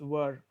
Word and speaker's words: were: याचं pronunciation were असतं, where नाही आहे. आपण चुकीचं pronunciation करतो where, but that's absolutely wrong. It's were.